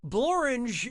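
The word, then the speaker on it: Blorenge: be ridiculous no honestly borange is a real place and it really rhymes with orange binge pipe loves our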